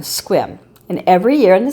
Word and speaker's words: Sequim: to get there it's a town called squim and it's spelled s e q u I am squim and every year in